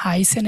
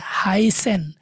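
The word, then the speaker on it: heißen: যেরকম একটা সেন্টেন্সে আসে, যেমন হাইসেন একটু আগে দেখে আসলাম, high S সেট এ এন, হাইসেন, এই সেটটা যদি দুইটা এস থাকতো এখানে একই উচ্চারণ হইতো, হাইসেন।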